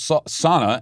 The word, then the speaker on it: sauna: is a finnish word in the finnish language each letter is enunciated so it is pronounced sauna if you did go to a finnish sauna and pronounced it that